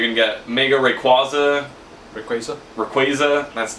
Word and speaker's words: Rayquaza: Rayquaza?